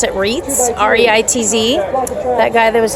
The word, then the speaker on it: Reitz: So that was Jeff, I think you pronounce it Reitz, R-E-I-T-Z.